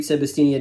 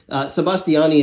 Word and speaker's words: Sebastiani: six so uh yeah sebastian sebastiani excuse me i've been saying his name wrong sebastiani is now captured that